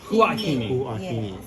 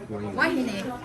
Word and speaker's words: Huahine: Huahine.